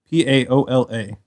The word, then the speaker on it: Paola: Pa pa, I would have said, how you spelled it? P A O L A PO, don't you? So Paola. Paola.